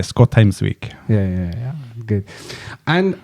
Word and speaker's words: Skotheimsvik: pronounce my name well in Norway we say scotes week yeah yeah yeah good